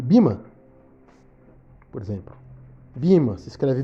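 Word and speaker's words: Böhme: Entender a diferença, por exemplo, entre João da Cruz e Bima, por exemplo. Bima se escreve B-O com trema H-M-E.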